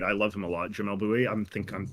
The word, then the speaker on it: Jamel Bouie: Jamel Bouie. Yeah, that's how you say his name.